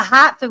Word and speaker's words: Hartford: You got to say it right. It's the hat for Whalers. The hot the hot the hat for whalers. That's where we're from.